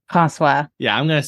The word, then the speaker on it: François: How do you pronounce his name? François. Yeah, I'm going to say like Francois.